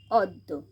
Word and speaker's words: অদ্য: নাট্য, আবার এখানে দয় হস্যুর সাথে যেহেতু জফলা আছে তাই দটাকে আমরা দুবার উচ্চারণ করব। বিদ্যুৎ, সেমভাবেই সত্য, অদ্য।